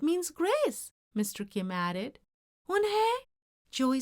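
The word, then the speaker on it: Unhei: "Yes, it's pronounced Unhai, and it means grace," Mr. Kim added. "Unhai," Joey said slowly and this time perfectly.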